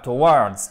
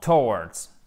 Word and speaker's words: towards: Pas towards, non, towards. Accent unique sur la première syllabe, vous l'avez compris, chers amis.